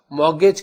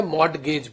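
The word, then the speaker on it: mortgage: कई लोग इसको मॉर्गेज बोलते हैं, टी साइलेंट करते हैं, कई लोग इसे मॉर्टगेज बोलते हैं।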